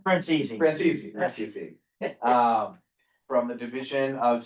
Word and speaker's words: Francesi: Did I say that correctly? Francesi. Francesi. How do you say it? Francesi.